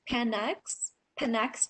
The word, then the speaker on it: Panax: All right, I think the next one that we're going to talk about is Panax ginseng. Did I say that right? Panax, it's pronounced.